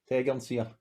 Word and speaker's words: Tegernseer: So I've got now, Brenny, before we say it, I always called it Tegernseer, but it's, how do you pronounce it? Tegernseer.